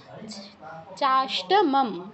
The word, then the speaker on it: চাষ্টমম: দুটো ম আছে, প্রথম মটা সম্পূর্ণ ময়ের উচ্চারণ, পরেরটা অর্ধ উচ্চারণ। চাষ্টমম, মম, চাষ্টমমও কিন্তু নয়, চাষ্টমম।